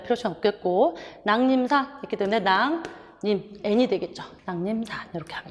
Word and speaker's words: 낭림산: 이응 뒤에 리을이니까 비음화, 니은 얘기죠. 그래서 낭림산 이렇게 발음이 돼요.